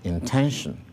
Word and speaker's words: intention: Intention. Here again, the primary stress is placed on 10.